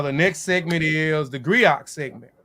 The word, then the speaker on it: griot: the Grio are unique to Western Africa the Grio and jelly professionals Encompass many roles um pronounced Grio has been referred to historian storytellers